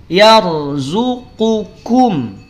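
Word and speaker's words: يرزقكم: Qa, ka, Qaf tidak punya sifat hams. Makanya tidak ada percikan nafas. Tapi kaf dia punya percikan nafas. Kum. Yarzuqukum. Yarzuqukum. Paham?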